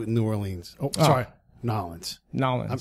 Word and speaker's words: New Orleans: Nolens. I'm trying to learn how to say it right. There you go. I'm such a white dude. I'm like, New Orleans. He'll pronounce every letter.